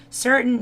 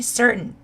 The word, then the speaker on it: certain: 발음이 certain, certain, C-E-R-T-A-I-N certain이라고 해도 되고 certain 이렇게 해도 되고 저는 이제 미국 서부에서 유학 생활을 어렸을 때 하다 보니까 이 T 발음을 자꾸 먹는 소리를 내는 습관이 있어요. 꼭 그렇게 안 하셔도 상관없습니다. T 발음을 그냥 우리 있는 그대로 자연스럽게 내주셔도 돼요.